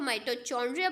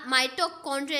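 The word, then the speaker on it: mitochondria: काफ़ी ज़्यादा स्टूडेंट्स ने जो पहले माइटोकॉन्ड्रिया को माइटोचॉन्ड्रिया पढ़ते थे, बट दिस इज़ नॉट, यानी ये गलत प्रोनाउंसिएशन है, तो ऑप्शन बी का माइटोकॉन्ड्रिया इसका करेक्ट आंसर है। तो इस तरीके से इसको हम प्रोनाउंस करेंगे।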